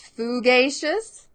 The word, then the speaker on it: fugacious: are trying it and Jennifer thinks it's fugacious and that's exactly right Jennifer is trying different